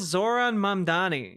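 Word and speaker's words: Zohran Mamdani: How is it difficult to pronounce Zoran Mamdani?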